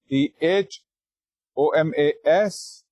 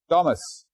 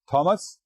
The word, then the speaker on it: Thomas: the word it's spelled t h o m a s but it's pronounced Thomas the t is hard it's not Thomas it's Thomas okay and